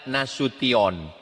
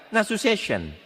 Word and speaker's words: Nasution: Cara membacanya nasution. Ada pula pembawa acara yang baca nasu session.